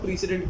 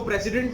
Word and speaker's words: precedent: तो उसको हम लोग प्रीसिडेंट कहते हैं, राइट? इसको प्रेसिडेंट नहीं कहा जाता है, the pronunciation is प्रीसिडेंट, alright?